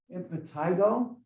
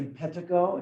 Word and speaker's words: impetigo: So superficial infections include things like impetigo. Some people say impetigo. It depends on which emphasis you put the syllable.